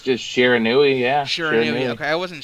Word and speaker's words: Shiranui: bread number two do you know how to pronounce that Rob what is it it's Shiranui it's the actual name for sliced bread now I think it's just Shiranui yeah sure okay I wasn't sure yeah I